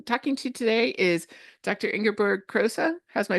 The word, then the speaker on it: Ingeborg Kroese: Ingerberg Crosa. How's my pronunciation?